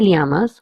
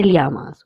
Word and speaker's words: llamas: As you can see, the third word has two L's. In this, two L's will be pronounced as lia or ya. If you're in Spain, you will pronounce as lia, and if you're in Latin America, you will pronounce it as ya.